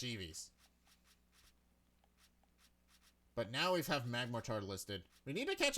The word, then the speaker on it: Magmortar: That's how you're supposed to pronounce it, Magmortar. Because, you know, mortar is how you pronounce it.